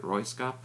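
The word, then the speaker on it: Röyksopp: There's always some debate on how to pronounce this. I pronounce it Royskap. I hope that's accurate.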